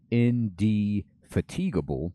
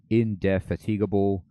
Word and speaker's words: indefatigable: You could say indefatigable, so you get that fatigue, or indefatigable, untiring, ceaseless prosecutors, or how about this?